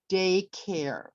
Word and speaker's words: daycare: at the word daycare we said that the stress was on the first syllable what would the word daycare look like if you used your hands okay we'd raise it for day and then we would lower it for care very good how about